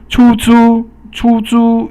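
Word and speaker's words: 出租: 出租 is the both first tone, and 出租 means to rent something.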